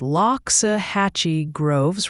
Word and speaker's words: Loxahatchee Groves: It's Loxahatchee Groves, Ryan.